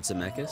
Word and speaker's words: Zemeckis: monster house on there he worked with Robert Zemeckis it's how you say it Robert Zemeckis yeah yeah he did he directed Forrest Gump